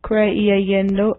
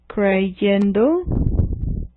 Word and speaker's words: creyendo: So to pronounce this, it would be le-iendo, cre-iendo, o-iendo. So to make it more pronounceable, what you do is you change the letter I to the letter Y in each case. So this one now would become leyendo. It's easier to pronounce.